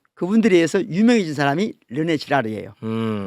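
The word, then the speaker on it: Girard: 르네 지라르라는 분이 있어요. 르네 지라를? 지라르. 지라르. 지라르. 뭐라? 이 발음을 다 사람들이 들으면 네, 그 이상하게 맞아.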